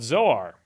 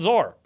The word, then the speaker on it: Zoar: the town was called zor or zor it's spelled like Sor but with a z z o a r why is that why